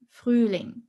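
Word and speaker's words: Frühling: is dare freely freeling so here we have a long stretched u sound flooring freuling and spring is a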